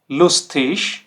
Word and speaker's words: lustig: zum Beispiel vanish, vanish, lustig, lustig, fetish, fetish। तो देखिए ये तीनों ही वर्ड के एंडिंग में ये कॉम्बिनेशन आ रहा है, ठीक। और इसका जो प्रोनाउंसिएशन कैसा है, ईश, ईश।